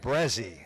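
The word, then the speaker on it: Braae: meeting on the mound official pronunciation of the base runner is brazzy b r a a e Jaden brazzy is the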